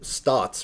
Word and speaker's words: SNOT: come in and do stots, right? It's pronounced like stots, which is like studs on the side.